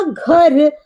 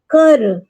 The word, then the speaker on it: घर: So जब मैंने कहा घर तो I sound घर घर. Why? मैं घर कह रही हूँ घर. So try to speak ग ख ग and gh. This 4 letter.